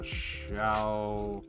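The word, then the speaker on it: XIAO: i don't even remember uh shall controller i think that's how you pronounce it x-i-a-o it's a little uh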